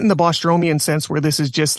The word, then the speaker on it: Bostromian: Because the Bostromian, how do you pronounce his name? Bostromian.